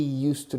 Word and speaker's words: used to: He used to drive. Fijaos, used to. Used to. But the pronunciation is always used to.